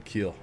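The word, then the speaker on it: Kiel: He's been Kyle Crumwide, Keel Crumwide, Keel Crumweed, Kyle Crumweed. If he doesn't turn But you got it now. Keel Crumweed, yes.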